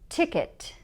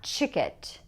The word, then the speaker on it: ticket: And ticket, ticket, not chicket, ticket, ticket.